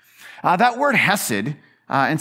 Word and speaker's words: Hesed: That word Hesed, and sometimes you'll see it spelled with an H. Sometimes you see it spelled with a ch, the ch, right? Because most Hebrew words have that ch. So if you just start choking, you're probably speaking Hebrew.